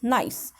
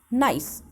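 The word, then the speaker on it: gneiss: granite and nest nice we can say the pronunciation is n-e-i-s-s nice so your g is silent so how will you pronounce it nice rocks like granite and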